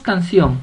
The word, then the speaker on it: canción: tilde muchos ejemplos tenemos canción canción canción la mayor fuerza de voz la lleva en sión y esta sílaba tónica